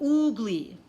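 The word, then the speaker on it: ugli: a group grapefruit and they pronounce it oh oogli ugly fruit we learned something new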